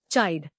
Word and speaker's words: chide: चाइड. नया लफ्ज चाइड. इसको तोड़ते हैं चाइड. जोर चाइड पर है. CHIDE. चाइड to scold in anger.